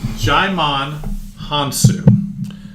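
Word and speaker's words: Djimon Hounsou: you've got gimon hawk hey who's the wizard jime on haan-soo i looked it up on how to pronounce it since the last time I just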